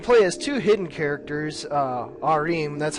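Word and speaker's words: Joachim: Arim, that's how you pronounce that name.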